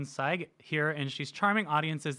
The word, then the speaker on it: Sayegh: Sayegh. It's like a sigh with a G.